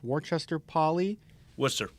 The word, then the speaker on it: Worcester: started coaching in 2009 at I believe it's pronounced Worchester Polly what's the Worster poly yep could you kind of give me